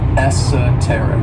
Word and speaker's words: esoteric: adjectives is esoteric and this word has four syllables and the stress is on that third syllable esoteric and when we describe